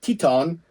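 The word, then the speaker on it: Titán: I'm going to say Titan, but it's like Teton, the guy from CMLL. Oh, yeah. Titan. Okay. It's not Titan, but it's spelled Titan. Versus Nick Wayne for he is the TV championship, I believe.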